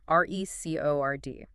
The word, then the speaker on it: record: If it's a verb, I need to record this, the stress is on the second syllable, record. But if it's a noun, I'm listening to a record, the stress is on the first, R-E-C-O-R.